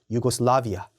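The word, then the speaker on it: Yugoslavia: 유고슬라비아는 YU로 시작하죠. 그렇기 때문에 유고슬라비아도 YU, 유고슬라비아 맞는 발음입니다.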